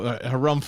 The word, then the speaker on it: Harumph: The Harumph Society.